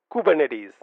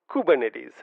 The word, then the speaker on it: Kubernetes: interesting fact is the fact that kubernetes is pronounced Ed as kubernetes kubernetes kubernetes say that a few times practice this a